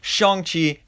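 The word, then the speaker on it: Shang-Chi: does flash the logo shong chi and the legend of the ten rings that's right i still remember to pronounce it right uh but i mean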